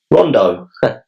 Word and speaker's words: Rondo: My name is pronounced Rondo."